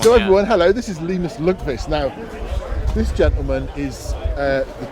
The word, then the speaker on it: Linus Lundqvist: Okay, so I have two pronunciations. I have the Swedish one, which is Linus Lundqvist, or I have my international one, which is Linus Lundqvist. You can go with the Linus Lundqvist one.